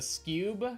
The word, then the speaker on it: Scube: The Scube, spell it wrong because I'm bad. Fair. It's pronounced like skew and cube.